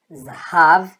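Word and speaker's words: זהב: Então, ó, Zá, Rá, Vi. Zahav, Zahav, que quer dizer ouro.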